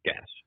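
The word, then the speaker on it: Gach: Avery, do you pronounce his name Gash? Yes, Gash.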